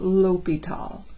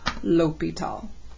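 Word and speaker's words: L'Hôpital: this spelling of his name okay it is pronounced l'hopital regardless of how you spell it it's pronounced l'hopital all right but this is the way I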